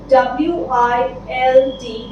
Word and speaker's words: wild: Coming to the third word and the last word for today is a simple word, WILD, wild. Now why I'm focusing on the pronunciation of this word, the word is very simple.